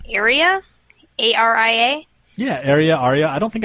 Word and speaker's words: ARIA: Yeah, like I thought I had an idea what it meant, especially with is it pronounced ARIA? A-R-I-A?